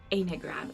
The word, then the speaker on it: Enneagram: I think you pronounce it Enneagram. It's ENNEAGRAM.